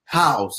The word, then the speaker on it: Howze: And it's Howze, right? That's how you say it? You hit it right the first time. Howze.